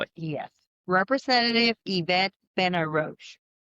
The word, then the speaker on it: Benarroch: Representative Iet Ben Ro.